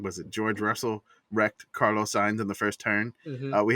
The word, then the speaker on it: Carlos Sainz: he's so mad with he calls him Carlos Science. Yeah, I like that. Like he can't even say his name right. So Carlos Sainz, love him. It's Carlos Sainz.